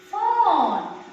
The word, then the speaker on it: phone: So here we come to pronounce here F, O, N, silent E. Phone.